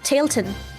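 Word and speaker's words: Tallinn: okay all right one of my favorite cities tailan how do you say that so I would say yeah about tailon oh tailon I run yeah I run the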